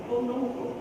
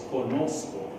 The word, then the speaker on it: conozco: Conoco. My dad quickly, boy, where did you learn that kind of Spanish? It's conozco.